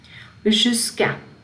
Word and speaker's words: jusqu'à: Jusqu'à, jusqu'à, up to, as far as, until.